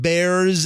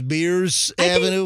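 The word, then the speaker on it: Bierce: don't know and said it's not Bears Avenue it's beers they should change the spelling to b-i-e-r-c-e if that's how it's pronounced how hard is that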